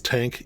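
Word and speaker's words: TANGK: this week this is tank even though it doesn't look like tank that's how it's pronounced I know it's got a g in there there's a whole story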